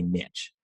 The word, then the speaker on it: niche: in the niche the niche that I was operating in. Forget, Americans say niche. Canadians say niche.